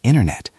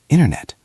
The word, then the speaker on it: internet: When a T sound is in the middle of a word, sometimes we drop it to make the word smoother. Think about the word internet. Mark, how do you say that when you are speaking quickly? I usually say internet. The T is almost gone.